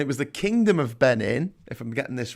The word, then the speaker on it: Benin: we finally made it to b for benin uh rhymes with 19.